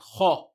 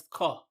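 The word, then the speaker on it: خ: The other, of course, there's a common mistake when saying this letter is to pronounce it as ka. Make sure you say it correctly. Kha, kha. Short, sharp, and heavy.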